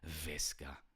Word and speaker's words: Visca: Everybody knows that in Spanish, the la V, the V, is pronounced as a B. Visca.